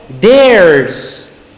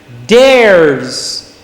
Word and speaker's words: theirs: Il faut bien prononcer comme je suis en train de le faire là. C'est comme ça qu'on prononce en anglais. Il ne faut pas dire theirs. Non. On dit theirs. Theirs. Le R là n'est pas prononcé.